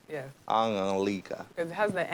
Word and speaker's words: Anulika: Anulika.